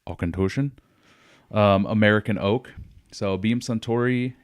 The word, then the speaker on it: Auchentoshan: What I poured here was the Auchentoshen, or if you need to pronounce it exactly like the Scottish, Auchentoshen, American oak.